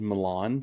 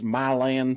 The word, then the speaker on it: Milan: my land Tennessee um which I used to always think was Milan Tennessee because I wanted to believe that people wanted to you know have some class and pronounce it in a nice way but then I've met multiple people are like no it's it's my land Tennessee I'm like why I